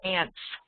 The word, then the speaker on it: aunt: cameras and mothers or aunts I say ants but per perhaps many people pronounce it aunts mothers or aunts when